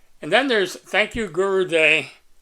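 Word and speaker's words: Guru Dai: That's D-A-I. I would have pronounced that Die, but they say Guru Day.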